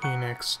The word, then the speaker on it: Hinox: Hinox Toenail.